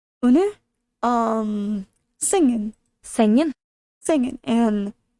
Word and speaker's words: sengen: Sengen. Singing. And we don't really pronounce the G either.